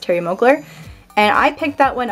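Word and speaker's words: Thierry Mugler: this cool looking bottle here is alien by Terry Moakler it's pronounced Terry mogler and I picked that one up at on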